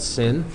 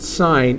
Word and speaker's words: sin: to anybody listening so this is still pronounced sign even though it's an abbreviation for the uh for